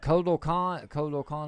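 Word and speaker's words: Kotal Kahn: But Kodo Khan, am I saying it right?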